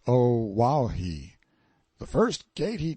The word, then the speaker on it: Oahu: i named him after this island oahu pronounced oh wow he the first gate